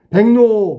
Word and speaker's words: 백로: 백노. 백로는 발음이 백노로 발음하는 거야. 뱅. 뱅크할 때 뱅. 노니까 이응 니은으로 바뀌었지. 앞에 니을과 니은이 모두 바뀌었어. 그러면 우리가 배운 대로 해 볼까?